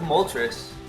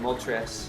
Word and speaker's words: Moltres: Like, pardon my pronunciation, but Articuno, like uno, 1, Zapdos, like 2, dos, and Moltres, like 3, Moltres. Anyway, just a little side